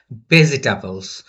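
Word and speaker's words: vegetables: বানানটা শিখে নিবে ভেজিটেবলস তাহলে ভেজিটেবলস এর শুরুটা কি হচ্ছে এই ভি সাউন্ড দিয়ে তাই না ভি ভি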